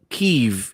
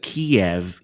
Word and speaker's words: Kyiv: Kyiv is how the Ukrainians pronounce it, and Kiev is how the Russians pronounce it.